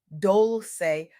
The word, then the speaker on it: Dolce: I'm Dolce, pronounced dol-say like sweet softness whispered in French.